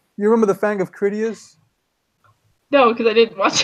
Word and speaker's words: Critias: His name was Critias with a K, so it was Kritas. Well, the more you know. Yeah, TIAS at the end. Critias, you can basically say it.